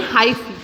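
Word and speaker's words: hyphae: हम कहते हैं हाइफी, इनको प्रोनाउंसिएशन ढंग से करना, ठीक है। इनका प्रोनाउंसिएशन है हाइफी।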